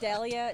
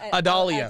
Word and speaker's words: Adalia: Dahlia? No, Adalia. Adalia. Adalia, that's right.